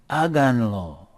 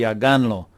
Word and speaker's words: háganlo: The accent's up here, and we are 3 syllables from the end. So we need to put an accent on here. Otherwise it'd be háganlo.